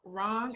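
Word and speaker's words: রং: slightly um so in bangla we call it wrong so it's spelled r-o-w-n-g but essentially it means color and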